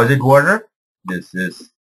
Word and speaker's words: Watir: So the word water it is it is pronounced as water as we drink water.